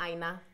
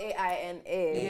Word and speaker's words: Aina: So it's not Aina. No. Because that's what I call it. I call it Jacqui Aina. Yeah. I know. It's spelled A-I-N-A, but it's pronounced Aina.